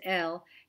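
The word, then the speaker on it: אֵל: foreign for you so the first of this group has the cere the two dots under the aleph it's pronounced l and you are certainly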